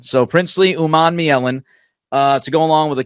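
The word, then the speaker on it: Princely Umanmielen: I will pronounce the name because I know Greg will screw it up. Princely Uman Mielen. So Princely Uman Mielen to go along with a couple of other guys, Greg.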